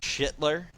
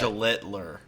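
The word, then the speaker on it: Schlittler: AL Cy Young, it's I went with Cam Shittler, Shittliter. I don't know how to actually pronounce it. I can never figure it out. But Shlittler.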